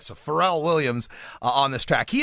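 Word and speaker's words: Pharrell: see here you also this song features frell Williams or is it farell I'll probably pronounce it right is it frell farell that's what he say all right so farell Williams on this track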